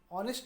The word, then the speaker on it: honest: Honest, O is used here, O pronunciation.